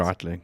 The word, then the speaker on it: Breitling: How do you pronounce it? Breitling.